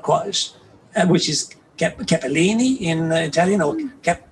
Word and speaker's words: Capelin: not quite, which is Capellini in Italian or Capellin in Venetian. But the interesting thing about Venetian is that it has two letter L's, one of which is silent.